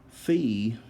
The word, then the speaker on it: phi: on the other diagonal fee or phi however you want to pronounce it it's the angle between